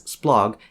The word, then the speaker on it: SPLOG: For example, this stroke is pronounced as splog and it outputs the word splotography.